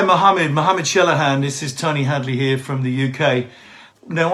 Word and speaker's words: Tony Hadley: far as I'm concerned you pronounced my name absolutely correctly Tony Hadley you might have said Hadley is slight accent but as far as I concerned you know you you you said my name correctly so you should be